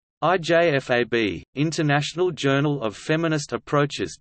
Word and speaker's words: IJFAB: IJFAB, International Journal of Feminist Approaches to Bioethics, is a biannual peer-reviewed academic journal providing a forum in bioethics for feminist thought and debate. The journal, pronounced IJFAB, is a publication of